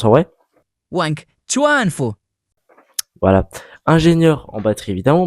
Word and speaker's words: Wang Chuanfu: Tout d'abord, ce qu'il faut savoir, c'est que BYD ça a été fondé par Wang Jufu. Excusez-moi la prononciation, voici comment ça se prononce en vrai. Wang Chuanfu.